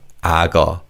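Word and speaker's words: 악어: Because of connected speech, this is pronounced as ago. Ago as the kio sound carries over to the second syllable.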